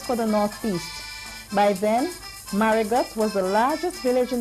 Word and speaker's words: Marigot: The French called it Petite Mariggo and it is now simply called Maragot with an English pronunciation of the T at the end.